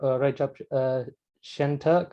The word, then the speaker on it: Recep Şentürk: Recep Şentürk. I hope I'm pronouncing that right.